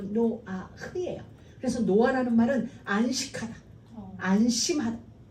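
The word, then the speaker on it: Noach: 그게 뭐냐면 노아의 원래 히브리식 발음이로 노아흐예요.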